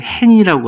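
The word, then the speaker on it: חן: 이 히브리어의 은총, 이 발음이 간단한데 헨이라고 하는 헨이라고 표현하는데요.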